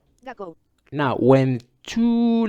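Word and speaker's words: 学校: 学校、 Gakko. We gotta follow the the vowels rule, so the O becomes longer. 学校、 And this K is like gak. I don't know. It's like a short interruption.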